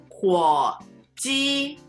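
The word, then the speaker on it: 火鸡: 火鸡 Third tone, first tone. 火鸡 Yeah.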